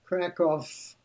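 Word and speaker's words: Kraków: Kov, as it is pronounced over there, a beautiful medieval city over a thousand years old.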